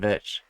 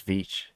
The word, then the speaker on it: Veitch: I've been saying it Veitch, and it's Veitch. That comes from the man himself.